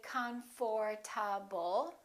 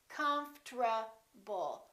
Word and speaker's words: comfortable: to do it we don't say comforable this is what happens the O disappears but then there's one more very strange thing that happens and that's the RT becomes a TR they change positions listen comfortable comforable comfortable I'm very comfortable most Americans pronounce it like that all right now let's